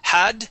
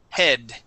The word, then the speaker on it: head: the word head okay you had said had ha ha okay it is head head in the back